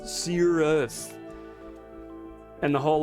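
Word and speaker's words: Sigur Rós: say it correctly like it's not Searos, it's Cirrus and the whole like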